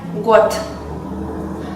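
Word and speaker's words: год: Por ejemplo, la palabra año, que en ruso es god y se escribe con una d sonora en el fin, pero se pronuncia got.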